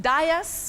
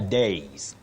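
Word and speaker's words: dais: do we pronounce it Das welcome to the Das Das common but wrong bet I know many people would be surprised about this but you say the days the days to stand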